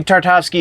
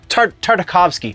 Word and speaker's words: Tartakovsky: movie is fixed uh Gandy tartowsky if you do not know I'm and I know I'm saying that yeah no tartakovsky sorry totally mispronouncing his name uh again to tartakovsky